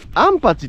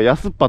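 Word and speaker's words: 安八: としてもヤすっぱとは読まんてね正解何だったあいや正解は安心の案に 8 でアンパチって読むねんこいつんとこあの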